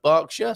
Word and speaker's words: Berkshire: berkshire uh which uh for our american friends that's pronounced berkshire strangely enough um and a good